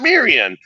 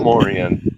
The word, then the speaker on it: Moran: time Mar Moran you say it right the first time and you're like oh Maran no Moran I know I mess